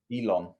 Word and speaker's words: Elon: Elon. It's not a pudding, mate, not a dessert. Yeah, that's what is it, but it's spelled with a T. Is it spelled with a T or not? Elon. How do you spell it? Elon. E-L-O-N. Yeah.